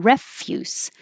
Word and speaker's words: refuse: sounds like cyst pharmacist refuse if it's a verb i refuse to go few another y u for every fuse it can be a noun and if it's a noun refuse stress on the first syllable means garbage obligation obligation i have